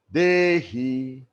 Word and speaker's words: dehi: For example, in the mantra which I will share with you, Dehi can be pronounced as Dehi, that is flat. Dehi, we are raising it up.